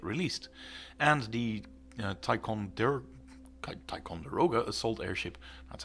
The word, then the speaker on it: Ticonderoga: those models get released and the taikon their Ticonderoga assault Airship that's how you say it is